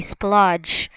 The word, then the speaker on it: splodge: We splodge. Splodge. DGE makes j sound.